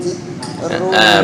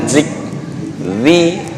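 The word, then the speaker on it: ذكر: Awa ajibtum an ja'akum dzikrun. Bukan zik. Dicepit.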